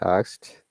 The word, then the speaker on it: asked: they said ask it they can't pronounce hell they said help it i've had it thousands of times so it's it's really like this helped oops yeah helped just eed becomes t that's right asked out